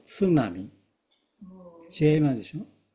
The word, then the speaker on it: 津波: です例え外国人もスナミスナミ言ってますスナミではないですツナミ TSU ツなみで外国結構例えば